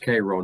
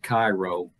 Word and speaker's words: Cairo: cairo illinois and uh yes it yes it's pronounced cairo not cairo as one would think uh but we were